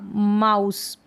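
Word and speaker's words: mouse: अब ई जो है ये साइलेंट होगा, माउस।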